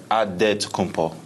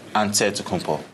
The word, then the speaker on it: Antetokounmpo: In the Greek way, you gotta say it with a D, so it's Antetokounmpo. But in the Greek way, you say it with an NT, like Antetokounmpo.